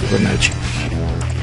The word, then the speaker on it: Fibonacci: And it's called the Fibonacci, or Fibonacci, or Fibonacci, not sure how you pronounce it. The Fibonacci sequence. Okay, I know in Italian it would be pronounced Fibonacci.